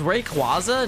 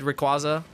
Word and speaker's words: Rayquaza: imagining that they said rayquaza it's named after a quasar i see a quasar so rayquaza rayquaza rayquaza